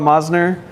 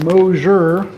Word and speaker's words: Mosser: Carl Mosner, that'd be great. Thanks for being with us. Thank you. Just one small correction. Moour, like closure or something like that.